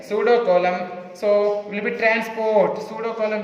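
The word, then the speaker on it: pseudocoelom: Here P is silent. Pseudocolum.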